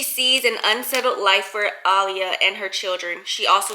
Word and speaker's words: Alia: I've been saying Alia. It's spelled A-L-I-A, but for some reason I do not think her name is Aaliyah.